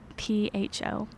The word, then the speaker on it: Pho: How you spell it? P-H-O.